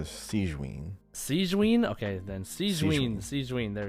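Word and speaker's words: Sigewinne: Is it Sigwin or Sigvin? How do you say it? I don't know. I didn't play in English, so I just say it like. Okay, because in English they were calling her Sigwin.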